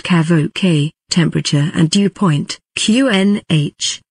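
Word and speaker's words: CAVOK: in feet or meters kavak pronounced kavo k temperature and dew point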